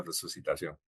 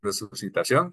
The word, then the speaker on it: resucitación: Si analizamos la palabra resucitación, en español se pronuncia exactamente igual, con s o sin s.